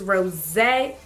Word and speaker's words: Rosé: So, it's this one, which is Rosé. I think that's how you say it. Because it got that little thingy over top of the E.